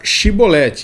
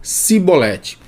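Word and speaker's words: Shibboleth: uma dificuldade na língua não conseguiam pronunciar shiboleth eles pronunciavam diferente sibolete e assim então ficava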